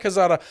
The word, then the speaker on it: Calzada: Zach Calzada. I'm pretty sure that's how you pronounce his name. Zach Calzada.